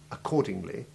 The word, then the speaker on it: accordingly: The double C combination can have two main sounds, either the simple hard C sound of accordingly, which we'll call hard double C, Or the KS sound of accept, which we'll call soft double C.